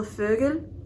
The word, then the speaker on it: Vögel: It's very like towards the front and very like your mouth is very closed, like eh. So for example, Vögel, which means bird, that is a German word. That's how you would pronounce it, essentially.